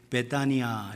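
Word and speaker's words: Βηθανία: 이게 베다니아 이렇게 해서 발음으로는 그렇고 한글로 베다니인데 이게 헬라 말입니다. 그리스 말 베다니아 이렇게 되어 있는데, 이 말은 뭐가 같이 붙어 있냐면 베트라는 말.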